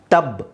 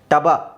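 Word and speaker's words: tub: ಬರೆಯೋದಾದ್ರೆ ಟಬ್ okay so ನೀವು ಒಂದು ವೇಳೆ ಬಾ ಫಸ್ಟ್ ಗೆ ಹೇಳೋದಾದ್ರೆ ನಿಮ್ಮ ಪ್ರಕಾರ ಇದು ಬಿ ನ ಬ ಅಂತ ಅಂತ ಹೇಳೋದಾದ್ರೆ ಇದೇನಾಗುತ್ತೆ ಟಬ ಟಬ ಆಗಲ್ವಾ ಸೋ ಇಲ್ಲಿ ನೀವು ಉಚ್ಚಾರಣೆ ಮಾಡಬೇಕಾದರೆ ಈ ಅಕ್ಷರನ ಏನಂತ ಹೇಳ್ತೀರಾ ಬ ರೈಟ್ ಬ ಟಬ್ ಬಾ ನೋಡಿ ಬ ಅಂತ ಅಂತಾನೂ ಹೇಳಬಾರದು ಬ್ ಓಕೆ ಸೊ ಅಲ್ಲಿಗೆ ನಿಲ್ಲಿಸಬೇಕು ಅದು ಓಕೆ ಸೊ ಇನ್ನೊಂದು ಸಲ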